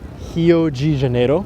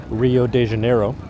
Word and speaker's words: Rio de Janeiro: Janeiro which is uh in English it would be Rio de Janeiro but in Portuguese Brazilian Portuguese you pronounce the the beginning uh RS of any word as an H I've been living here